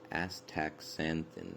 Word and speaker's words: astaxanthin: predominantly in marine plants, known as astaxanthin. That's how you say it.